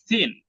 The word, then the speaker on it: thin: ফ্যাট, থিন, থিন, এই যে উচ্চারণটা, ঠিসে যে সাউন্ডটা, এটা আরবি থায়ের মতো আসবে, আলিফ বা তা থা, এই থায়ের যে সাউন্ডটা দেখে থিন, নেই।